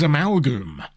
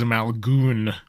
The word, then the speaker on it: Amalgoom: But this is Amalgoom. Not to be mispronounced as Amalon.